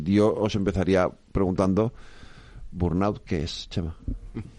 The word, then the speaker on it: burnout: personas Bueno pues eh burnat se pronuncia no entiendo que es una palabra francesa No no es es inglesa burnout burnout Vale burnout pues burnout